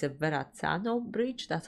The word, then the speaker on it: Verrazzano: I also want to say, Walt, you mentioned the message that the bridge, it's a Verrazzano bridge, that's how you say it, featured in that video, is the one that's very special to you.